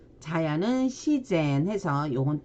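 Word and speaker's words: 自然: 일본어 발음은요. 자유는 지유, 자연은 시젠 해서 요건 또 시로 읽어줍니다.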